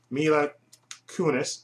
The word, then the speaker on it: Mila Kunis: Denzel Washington is absolutely fantastic in this, and Mila Kunis, that's how you pronounce her name.